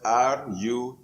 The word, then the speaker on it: rutin: It is spelled R-U-T-I-N, rutin.